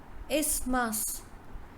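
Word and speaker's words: isthmus: land is called isma's is mass is mass so th is silent in its mass is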